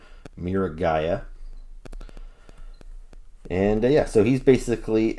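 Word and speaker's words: Miragaia: looking guy who i have learned that you pronounce his name mira gaia and yeah so he's basically a long-necked stegosaurus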